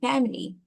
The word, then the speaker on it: family: Family. Yes. Family. Family. Family. All right. But it's it's it's like uh we don't pronounce the the the I in the middle.